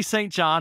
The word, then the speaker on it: St. John: this guy named Jeffrey St. John, and he became the other man. Wait, the who's that? Jeffrey St. John, or St. John, if you want to pronounce it in the proper way.